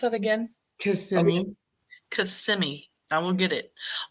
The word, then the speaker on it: Kissimmee: How do you pronounce that again? Kissimmee.